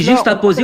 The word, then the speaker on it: juxtaposé: On dit juxtaposé ou bien juxtaposé? Réponds à ma question, tu sais même pas le prononcer.